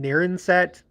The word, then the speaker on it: Narragansett: You know, you have the, I don't know how you pronounce it, but I think you pronounce it Narenset, but even though it's spelled like Narragansett, but those are like